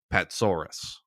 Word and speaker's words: Patsouras: And yes, that is how you say it. Patsaurus, like a dinosaur.